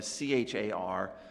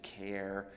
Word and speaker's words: char: known as a c-h-a-r some people pronounce that as char i think that's wrong i pronounce it as care you know this is one of these things if you've got a bunch of programmers in a room you'd find half of them say one and half say the other and they might fight each other over it if you let them you know so you can you can pronounce it however you want you can see